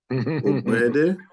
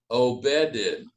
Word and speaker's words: Ogbede: Ogbede? Say it again. Ogbede. Obeded. You don't That's say, close. That's close. do you say the G at all? The G is silent.